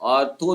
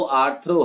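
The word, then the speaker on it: arthro: कहीं कहीं ऑर्थो भी लिखा होता है, वो गलत है, आर्थो नहीं होता कुछ भी। वो तो डॉक्टर आर्थो का इस तरह से मतलब मेडिसिन बनाया गया है, लेकिन जो इसका सही प्रोनाउंसिएशन है, जो सही स्पेलिंग है, वो आर्थ्रो है, ठीक है।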